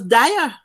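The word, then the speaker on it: Diah: And the man's name was Dyer. I mean, nice. Mr. Good. But him spell it D-I-A-H, meaning you ask him, where you, Glenn, where you there?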